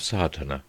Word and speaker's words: Sadhana: going through the proofs the word may be added about the pronouncing of Sartana the accent falls decisively on the first a which has the broad sound of the letter chapter 1 the relation